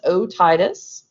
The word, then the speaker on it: otitis: probably different ailments or dysfunctions of the ears otitis media very common inflammation of the middle ear that's how at word is pronounced otitis very common among kids and like high drops